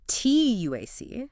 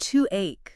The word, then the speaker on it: TUUAC: The TUAC. The TUEC. It's pronounced TUUAC, like take action towards Oh. your future.